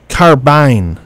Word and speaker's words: carbine: carbine wrong are we it's carbine carbine said it should rhyme with bar wine not faren oh no